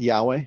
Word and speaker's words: Yahweh: I say Yahweh. I believe that is the correct pronunciation. And so that's what I use. Amen. Yevarechecha Yahweh ve'ishmerecha.